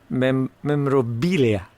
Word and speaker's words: memorabilia: tipping me off that there was an auction of George Formby memorabilia. Do you say the L in memorabilia?